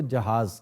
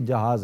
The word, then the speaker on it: जहीज: होता है तो उसको जहाज कहते हैं कि ये जहाज है। और अरबी लफ्ज़ है जहेज, उसी का बिगाड़ है। और जहेज मिस प्रोनाउंसिएशन है, हेलो ये लफ्ज़ है जहीज।